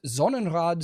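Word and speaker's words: Sonnenrad: In Nazi Germany, the Nazi party, the SA and the SS all used Zonenrad symbology, pronounce that S as a Z there, symbology at times, which has led neo-Nazis and other modern white supremists to adopt such images.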